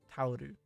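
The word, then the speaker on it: タオル: Sounds like towel. Tauru.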